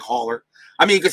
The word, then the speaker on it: Haller: I think it's pronounced Haller. Tom Haller. It's Hall like Hall. So I believe it's pronounced like Haller. I mean, you could say Holler if you want, but I think it's Haller.